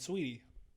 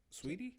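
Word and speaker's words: Saweetie: you say your name sweetie sweetie isn't it spelled like sway tea sweet awesome it's like there's an h in there isn't there i'm horrible at pronouncing stuff i think it is sweetie but i call it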